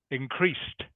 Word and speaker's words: increased: tense um it's increased increased correct so I'm just making it sound like there's a t on the end that's how you pronounce